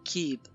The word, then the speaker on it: Cib: Glyphe des étoiles, l'archétype maya Kib. Prononciation Kib.